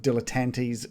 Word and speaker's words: dilettante: American pronunciation. Dilettante. The American is dilettante. Oh, so that's why I said it that way. I must have just heard British that on American media.